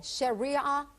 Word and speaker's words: Sharia: us a little bit about how do you pronounce the shiar law sh Shia law Sharia law okay and Sharia law is basically what